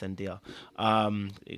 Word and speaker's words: Zendaya: Or Zendaya. Sorry, I think it's Zendaya. It's Zendaya.